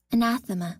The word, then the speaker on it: anathema: Anathema.